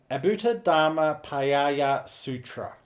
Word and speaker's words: Adbhutadharmaparyāya Sūtra: So I just want to work on the pronunciation of that for a moment. So Adbhutadharmaparyāya Sūtra. In Sanskrit, it's written the same way. Chinese, Shen Ziyu Zing, if I'm pronouncing that right. So, okay. Adbhutadharmaparyāya Sūtra.